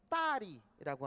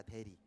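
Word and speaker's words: 大理: 그리고 또 유명한 두 군데가 따리라고 하는 곳. 따리. 한국어 발음 대리입니다. 대리. 네, 중국어 발음이 따리. 한국어 발음 대리고요.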